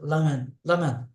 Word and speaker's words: ramen: So that's why when they say Ra, we say ramen. Ramen. What they eat, ramen. But you'll just listen to how Japanese say. You'll hear lamen. But they're not.